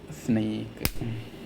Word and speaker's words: Snyk: and how to pronounce a snake snake is pronounced snake not a snake it with a snake.